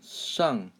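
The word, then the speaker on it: 上: Tung sung sung and you sort of have to curl your tongue a little bit to produce their sung sung okay let me do one without curling my tongue and see if you can hear the difference okay sung sung so that one I did not curl my tongue but if you want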